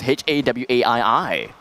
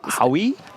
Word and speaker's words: Hawaii: paris sounds way better then how would you pronounce h-a-w-a-i-i it will hurt why wait slow down w-a-i-i you know howie wait really h-a-w-a-i-i a-i-i hawaii right yeah i